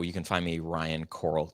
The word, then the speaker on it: Koral: So, you can find me Ryan Coral. It's K O R A L. Uh, so it's pronounced like uh under the sea, but spelled totally different.